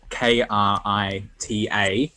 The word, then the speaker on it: Krita: Ooh, so the art program, I will willingly go on about this because I use Krita, which is spelled Krita. Not Critter.